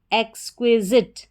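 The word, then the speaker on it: exquisite: सबसे पहले पढ़ा EX एक्स, QUI क्वी, और SITE जिट, एक्सक्विजिट।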